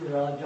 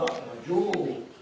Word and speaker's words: Raja: In Bengali sometimes they put O. Raja, Rajo. Or that is more Bengali pronunciation like that.